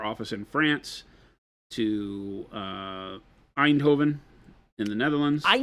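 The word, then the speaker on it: Eindhoven: They're going from our office in France to uh Einhovven in the Netherlands. Einhovven. Yeah, that's exactly how it's pronounced.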